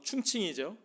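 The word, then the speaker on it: 重庆: 1945년도에 당시의 임시정부가 머물던 중국 중경, 중국 발음으로 충칭이죠.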